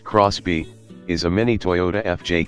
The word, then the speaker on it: XBEE: and lots of space the xB pronounced Crosby is a mini toyota